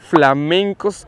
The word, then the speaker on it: flamencos: How do you say Flamingo in Spanish? Flamenco or Flamingo? Flamencos is the correct way in Spanish but we usually say flamingos as in English ...